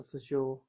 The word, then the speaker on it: fagioli: but it's always awesome when you can make something like I like the pasta fagioli.